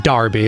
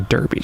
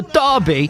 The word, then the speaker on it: Derby: like a little trip not the kentucky darby it's the kentucky derby come on kentucky derby look like a great time out there i'm saying it's an english thing you pronounce it in the english way it's the dobby uh from the 408